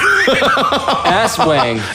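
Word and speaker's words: aswang: A swang. Hold on, what? How do you spell it? A swang. A-S and it's like as and wang. Ass wang.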